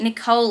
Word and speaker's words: Nicole: Oh, so it's actually Desiree Nicole. It rhymes with cannoli.